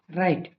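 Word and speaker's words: right: कई जगह जी H silent भी रहता है, जैसे आर आई जी एच टी, राइट, यहाँ पे जी एच साइलेंट है।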